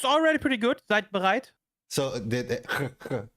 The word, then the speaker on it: Seid bereit: pronunciation? How do you say it? Sidebereit. It's already pretty good. Seid bereit?